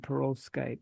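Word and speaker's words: perovskite: I pronounce it perkite because it's named after Perovski.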